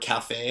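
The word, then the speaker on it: café: That little dash is a diacritic. So that little line is telling you to pronounce the E sound, not as E, but as A.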